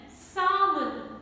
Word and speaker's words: salmon: half a lf combination then salmon not salmon and i'd like